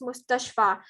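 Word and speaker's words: مستشفى: And uh the other ones like this mustashfa, it ends with a uh uh it ends like this, right? With a ya, but it's pronounced mustashfa.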